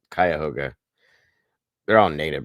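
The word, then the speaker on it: Cuyahoga: when they do that it's kayoga County Corner not kah ho whatever the hell he said anyway just so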